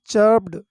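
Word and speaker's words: chirped: Word use करते हैं, चर्प्ड, चर्प्ड, यहाँ पर आर साइलेंट है। ओके, इसको पढ़ेंगे हम चर्प्ड, चर्प्ड।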